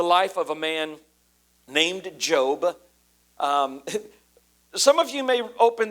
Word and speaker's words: Job: So I don't know how this is going to be interpreted to you today, but it's pronounced Job.